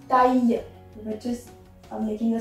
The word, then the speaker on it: taille: LL is not pronounced here. That is not taille. It's taille, which is making a sound of Y, and we are making it like this.